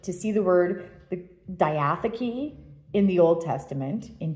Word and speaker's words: diatheke: I think it's diatheke is how you pronounce it.